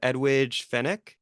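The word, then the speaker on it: Edwige Fenech: I'm gonna butcher the pronunciation, but Edwidge Fenech. Yeah, no, that's right.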